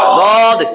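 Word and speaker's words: ضاد: দদ উচ্চারণ জিহ্বার একেবারে গোড়া, উপরের দাঁতের মাড়ির, জিহ্বার গোড়ার কিনারা উপরের দাঁতের মাড়ির গোড়ার সাথে লাগে পড়বেন। এক পাশ হইলেও হবে, এক পাশ লাগলেও চলবে। দদ, দদ, দদ, এটা 7 নম্বর মাখরাজ।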